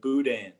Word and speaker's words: boudin: pronounce it uh well we pronounce it a little bit more like cajun french i guess like boudin yeah the boudin we your